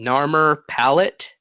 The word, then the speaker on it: Narmer Palette: them is the i don't know if i'm pronouncing this right or not the narmer palette right that's correct the creation museum claims yeah